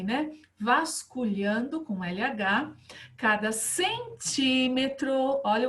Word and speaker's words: centímetro: Vasculhando com LH, cada centímetro, olha o acento aqui, né? Toda proparoxítona é acentuada, sílaba forte não é a última, não é a penúltima, é a antepenúltima, proparoxítona, centímetro, tá bom?